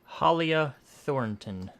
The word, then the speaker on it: Halia Thornton: How'd you pronounce her name? Halia Thornton.